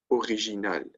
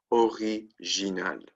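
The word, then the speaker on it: originale: feminine plural is also original right original except an S okay so if if you notice the masculine singular the feminine singular and The Feminine plural are all pronounced the same way original original original but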